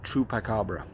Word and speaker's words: Chupiecabra: That's how I'm pronouncing it, but it's spelled a little bit differently than the way I'm used to. The grower on this is spelling this C-H-U-P-I-E Cabra, C-A-B-R-A. So DK peach Chupacabra.